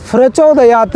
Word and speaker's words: प्रचोदयात: सुव नहीं स्वः प्रचोदयात प्रचोदयात नहीं न के बाद विसर्ग लग जाने के कारण यहां फ का उच्चारण नहीं प का ही होगा इसलिए प्रचोदयात इन उच्चारण का जरूर ध्यान